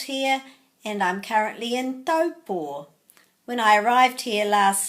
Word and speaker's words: Taupō: Most people say Taupō, but the AU in Te Reo Māori comes out as O.